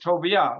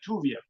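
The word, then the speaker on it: טוביה: said no no no his name was toia or like tuia could be pronounced tuia he was he was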